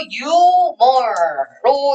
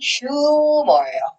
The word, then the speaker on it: humor: 자, 이거 유머로 읽으시는 분들 있죠? 우리는 한국말은 유머가 더 익숙해요. 근데 사실 원발음은 휴머예요.